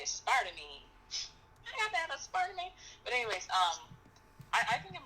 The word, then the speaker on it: aspartame: Oh, wait, aspartame. That's how you say it. I always say it wrong. I always say aspartame, because that's how it looks like how you're supposed to say it, but it's aspartame.